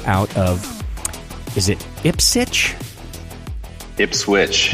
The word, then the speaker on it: Ipswich: of is it ipsit ipswitch you do pronounce the W yes ifp switch Massachusetts